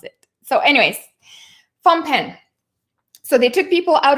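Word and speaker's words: Phnom Penh: butcher everything they say so phampen okay it looks like that's that's the right way to pronounce it so anyways phone pen so they took people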